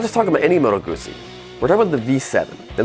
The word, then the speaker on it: Moto Guzzi: with one it's an Italian company and it's pronounced molto woodsey and when you say it you have to